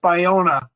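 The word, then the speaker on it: Ballona: um I know Rancho balona that also incorporates cver City Ranch balona where uh camp leam but yeah Brian it's actually pronounced by Ona that's B I know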